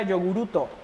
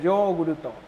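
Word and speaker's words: ヨーグルト: No es, yo decía yoguruto, pero es yoguruto. Entonces, y además nuestra Y-O, yo lo pronuncio yoguruto. Entonces me dice, es que no es yo, es yo.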